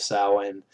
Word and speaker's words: Samhain: Loomis says Sam Hain, which is a mispronunciation of the word. It is actually Samhain.